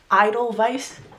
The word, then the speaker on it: Idol Vice: This is from a brand called Idol Vice. Idle Vice, but it's spelled differently. You know, like Adidal Vice, like the flower.